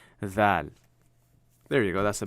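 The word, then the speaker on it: ز: Put a dot on top, and now you literally get our Z. Za. Okay? Ra, za. This is literally your letter Z. Kind of same way you pronounce it.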